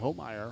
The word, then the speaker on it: Homeyer: Pronounced Homeyer.